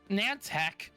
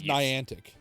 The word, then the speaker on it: Niantic: Is it Nant? I thought it was Niantic. I don't know. I I I could care less so much on how it's pronounced because the company sucks that much. I call it Nantac. I don't care if that's the wrong pronunciation because I have such little respect.